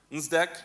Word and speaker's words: NSDEC: NSDEC, remember the D is silent.